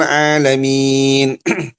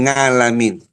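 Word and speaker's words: العالمين: Orang-orang baca Alhamdulillahi Rabbil Alamin. Kalau dia bacanya Alhamdulillahi Rabbil Ngalamin, ya.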